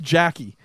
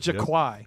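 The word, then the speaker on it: Jacqui: It's pronounced Jackie. Okay, I thought it was, and then I'm reading it, and I totally messed it up. So I apologize. Yes. Jackie Briggs. I said Jaquai because she was in this.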